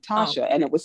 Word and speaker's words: Tatia: It's Russian, it's pronounced Tatia.